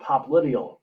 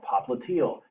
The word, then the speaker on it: popliteal: Next, behind the knee is called popliteal or popliteal, depending on whether it's the English or the British pronunciation.